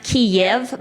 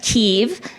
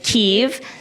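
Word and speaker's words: Kyiv: is ke ke the capital city and we pronounce it not KV but ke in Ukrainian we say ke so from now on just say ke and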